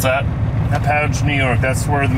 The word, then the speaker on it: Hauppauge: Hauppauge. How do you pronounce that? Hauppauge, New York.